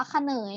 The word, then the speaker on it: เขนย: พระ เขนย อัน นี้ คำ นี้ อ่าน ว่า ค่ะ เนย นะ คะ เนย นะ